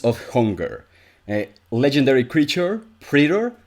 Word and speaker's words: praetor: hunger a legendary creature pretter i actually i checked the pronunciation i think i finally am pronouncing it right pretter it has trampled and